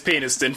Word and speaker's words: Peniston: then i'm very sorry no where it's in it is peniston for forever there's no there's no other way to say it pedestal arrested development the